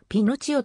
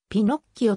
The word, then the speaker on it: ピノッキオ: 注が付され日本では今まで pinocchio となっているがこれは誤りであるイタリー後ではピノッキオと発音すると書かれている